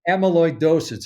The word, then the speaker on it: Amyloidosis: Amyloidosis. It's very difficult to pronounce. So it's Amy. It's Amy.